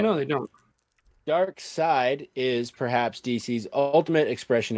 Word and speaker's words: Darkseid: always go to this it says it's spelled dark seed but it's dark side okay somebody at dc is not a spell all right no they don't dark side is perhaps dc's ultimate